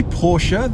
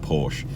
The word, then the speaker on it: Porsche: Did I say Porsche then? I might have done. It's the correct pronunciation, but I always sound incredibly pretentious saying it because I grew up just saying Porsche.